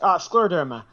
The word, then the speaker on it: scleroderma: Yes, scleroderma.